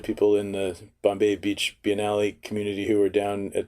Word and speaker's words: Biennale: the Bombay Beach by Nelly is that house pronounced by Nellie Biennale Biennale yeah okay which I think kind of means